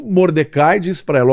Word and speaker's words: Mordecai: primo, o açoeiro, desculpe, o Mordecai ou Mordei, né, como se fala em hebraico.